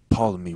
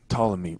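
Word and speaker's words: Ptolemy: I think to say pamy because I'm thinking about how it's spelled in my head but it's reallymy and the p is silent but anyway she goes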